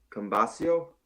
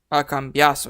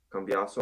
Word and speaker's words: Cambiaso: Cambasio? Cambiaso. Yeah. Cambiaso, okay.